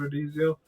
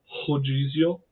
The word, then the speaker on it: Redizio: When I see it, I want to pronounce it Rodizio because I lived in Brazil, and Rodizio means all-you-can-eat pizza. So that's what I want to say when I read his name, but that's not it.